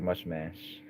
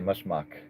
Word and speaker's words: Mushmash: I recorded something for Mushmash. Mr. I think that's how you say it. Mush mash. I used to say mushmuck. Then I heard him rap his own name and he said mash or match.